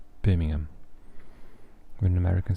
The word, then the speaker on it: Birmingham: you do not like birmingham when an american says birmingham they say birmingham so um yeah we say birmingham there's definitely no ham in birmingham and um if i